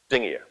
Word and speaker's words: Dingir: And down here, Nin, Gir, Su, Dingir. This star means both star and God. We pronounce it Dingir when it means God, and you'll hear me say it several times this evening.